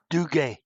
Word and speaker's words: Duguay: I was going to ask you before we started how to pronounce it exactly, but maybe you could do it for us. Dugay. Dugay.